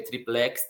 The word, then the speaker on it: triplex: Não é o caso de triplex, ok? Porque triplex tem força na sílaba final.